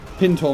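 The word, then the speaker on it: pintle: Pintor mounted, that's how you say it.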